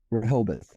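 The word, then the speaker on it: Rehoboth: the uh I keep mispronouncing Rodeo Beach Rahobit.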